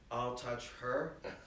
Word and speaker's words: Altucher: But the real way to pronounce it is, I'll touch her fast.